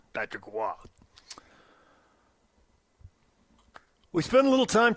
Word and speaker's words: Roy: It's spelled R-O-Y. That looks like Roy to me. What do I know? No, I know. Wah. Patrick Wah.